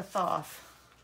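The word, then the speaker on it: Thoth: was the last one she pronounces it th like sloth so I am going to take that as I can pronounce it that way too and I'm going to pronounce it th from now on uh the the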